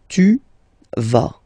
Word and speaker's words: tu vas: Okay, tu vas. Same thing here, final S not pronounced.